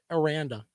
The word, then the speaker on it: Aranda: It's Aranda. I always mispronounce the guy's name.